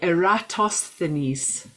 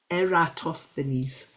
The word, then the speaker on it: Eratosthenes: Eratosthenes, he was called. Eratosthenes.